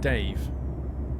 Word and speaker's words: Davey: For your information, it's pronounced Dave. Oh, I see. Old nickname from school, long story. Dave, I see. Just to be different, spelt Davey.